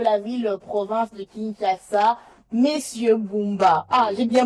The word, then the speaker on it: Bumba: Alors, comme vous le savez, le gouverneur de la ville-province de Kinshasa, Monsieur Bumba, j'ai bien prononcé son nom, c'est rocambolesque, digne d'un film, à grand budget.